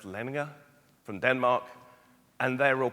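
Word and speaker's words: Lendager: they will this is the lender Group which is actually pronounced lener from Denmark and they're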